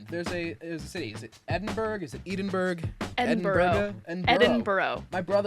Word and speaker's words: Edinburgh: My brother was just telling me there's like more syllables than you think. It's not spelled borough, it's b u r g h.